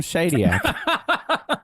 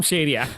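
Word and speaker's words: Shadyac: apparently bed Midler or Tom shadec Tom shadia correct answer you thought I'd forgotten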